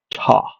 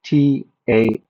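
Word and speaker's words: Ptah: god in ancient Egypt called Ta. And that's spelled with a P. T a H. Ta.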